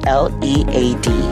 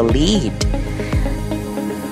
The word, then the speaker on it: lead: The other word is a four-letter word, L-E-A-D. What is the first way to pronounce it? Of course, it is pronounced as lead, rhyming with seed.